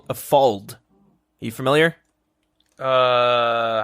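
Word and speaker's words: fauld: And this piece of armor is called a fold. Are you familiar? Uh, how do you spell it?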